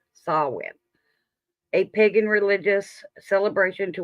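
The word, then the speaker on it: Samhain: its roots in the ancient Celtic Festival of sawin spelled samh it's the GAC pronunciation sawin a pagan religious celebration to welcome the Harvest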